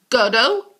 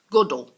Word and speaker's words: Godot: Beckett with Waiting for Godot good oh not good oh okay I think that